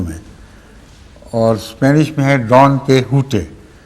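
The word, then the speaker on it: Don Quixote: اور اسپینش میں ہے ڈان کیحوٹے۔ وہاں ایکس جو ہے اس کو ایکس نہیں پڑھتے اسپینش میں، اس کو ہے پڑھتے ہیں، یا خے سے ملتی جلتی، تو اس کا تلفظ ہے ڈان کیحوٹے، اور ہماری اردو میں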